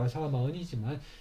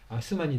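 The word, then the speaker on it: آسمان: 그래서 아람 문자 영향을 받았겠지만 그래서 자 이렇게 이제 한자로 아사마은 우리 발음으로는 아사마은이지만 실제 발음은 이제 이 아스만이 되겠죠.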